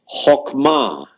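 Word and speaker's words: חכמה: again come on and be sure to put the accent on the last syllable sha can means he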